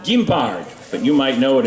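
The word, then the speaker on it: guimbarde: musical instrument on francais in french it's called gimbard but you might know it as a jaw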